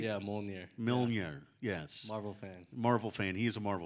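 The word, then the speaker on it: Mjölnir: Yeah, Mjolnir.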